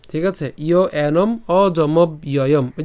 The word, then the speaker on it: অজমব্যয়ম: নিত্যয় এরপর ইয় এনম অজমব্যয়ম ঠিক আছে ইয় এনম অজমব্যয়ম ওই যে কিছুক্ষণ আগে দেখিয়েছি তো এই পুরোটিকে আমরা যদি একসাথে উচ্চারণ করি কেমন হবে অজমব্যয়ম অজমব্যয়ম ঠিক আছে আর যদি ভেঙে উচ্চারণ